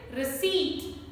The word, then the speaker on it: receipt: I have heard people is a wrong pronunciation. Correct one is receipt, receipt.